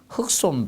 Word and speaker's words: 흙손: 바 두께가 일정하도록 지정양식 흑손 발음한다 자 흑손 발음 흑손 여러분들 아시죠이 바르는 거 이렇게 생긴 거 그래서 이제 손잡이가 이렇게 달려서 위에서 이렇게 보면 옆에서 보면 되죠 이렇게 손잡이를 딱 잡고 이렇게 바르는게 있습니다 예이 흙손이라 합니다 흑손 발음으로 해 주시면 되겠고 그리고 뭐 마무리 작업에서